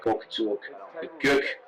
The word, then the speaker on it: Göktürk: This is it here, the Göktürk, as the proper umlaut pronunciation, yes.